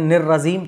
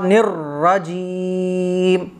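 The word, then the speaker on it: الرجيم: نکلتی ہے، من الشیطان الرجیم نر رجیم، ٹھیک ہے، بعض لوگ پڑھتے ہیں نر رجیم تو یہ غلط ہو جاتا ہے، اعوذ باللہ من الشیطان الرجیم نر رجیم، را موٹا ہوگا، تو یہ ہے بالکل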